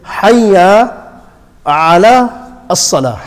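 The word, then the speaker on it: حي على الصلاة: So the correct way is hayya ala as-salah. Hayya ala as-salah. Okay, hayya ala as-salah, incorrect, where there's no ayn sound. The ayn sound needs to come out.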